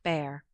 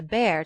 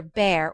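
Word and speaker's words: Bhaer: at his horrid name it isn't pronounced either bear or beer as people will say it but something between the two as only Germans can give it I'm glad you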